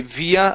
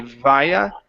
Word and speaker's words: via: Now, people pronounce this word differently. Okay, some people say via, others say via. Okay, I prefer to say via.